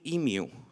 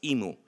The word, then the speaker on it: emu: But wait, why am I calling it emu? I know some of you especially who are from the US pronounce this as emo.